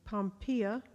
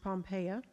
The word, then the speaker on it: Pompeia: Cleopatra three Pompey or excuse me pompeia or can be pronounced pompeya or four Calpurnia which